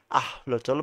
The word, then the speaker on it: axolotl: The original নাহুতি pronunciation is আহলোচল বা তাদের আসলে প্রোনাউন্সিয়েশনটা বলছে।